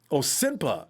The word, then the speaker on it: senpai: I'm told it's senpai. It was senpai. Well, I'm sorry. I looked at your name, and I know it's a Vietnamese surname, and then it says senpai, and I just assume